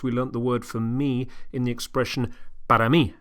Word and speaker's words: me: example, see me, tell me, help me, then the word is me. Me, same spelling as in English, different pronunciation.